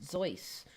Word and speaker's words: Seuss: so they're saying that the seuss that we now see the spelling is actually supposed to be pronounced zoice and that we've been